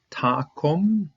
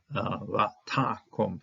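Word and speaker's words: וַתָּקָם: Verse 6 begins right here, and Takum. This is a comment satuv because it's a closed syllable, and so this comment is going to be pronounced O. Takum, accenting is on this second syllable here.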